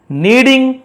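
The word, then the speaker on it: kneading: हड्स heard from नीडिंग dough. यहां नीडिंग के silent होता है।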